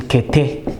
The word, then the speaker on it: kete: This is the e sound, as in kete.